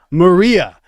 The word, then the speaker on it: Maria: God I ask you that was Marie it's Maria Marie isn't it like Maria's a nice